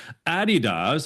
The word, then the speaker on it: Adidas: Navy, Adidas, that's how you say it properly, DocuSign, TD Bank, and Manulife.